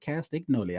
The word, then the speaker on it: Castagnoli: Castagnoli.